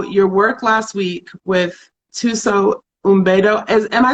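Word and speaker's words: Thuso Mbedu: So your work last week with Tuso Umbedo, am I saying her name right? Tuso Umbedo? I don't think you pronounced the M. I think it's Tuso Bedo.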